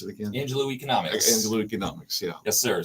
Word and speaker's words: Angelou Economics: Pronounce it again. Angelou Economics.